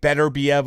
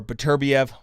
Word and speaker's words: Beterbiev: light heavyweight i think better biev or beterbiev however you want to pronounce it that that's that's